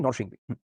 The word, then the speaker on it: নরসিংদী: এটা শুদ্ধ উচ্চারণ নরসিংদী। কিন্তু আমরা এটার প্রচলিত উচ্চারণ কি নরসিংদী।